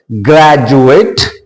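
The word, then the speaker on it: graduate: pronounce it S individual ग्रेजुएट procedure तो डी यू को हम क्या पढ़ रहे ज ग्रेजुएट प्रोसीजर एंड यहां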